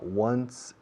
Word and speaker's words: once: Se escribe 11, se pronuncia como 1 más un S, once.